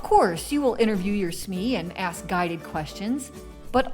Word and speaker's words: SME: designer will get assigned a subject matter expert pronounced smee who allows you to mine their expertise in order to create a learning solution of course you will interview your smee and ask guided questions